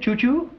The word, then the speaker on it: Chou-Chou: Yeah, what is it, Chou-Chou? No, it's spelled C-H-O-U, C-H-O-U.